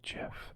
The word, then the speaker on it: GIF: animated picture thing okay I pronounce it gif the other option was GIF like the peanut butter j if GI j i GIF right it's like gift without the T J get like it